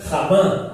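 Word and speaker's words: חמה: Enojo es la palabra hebrea af e ira es la palabra hebrea jamá. Aunque se escribe con H para transliterar algo, pues se pronuncia con J.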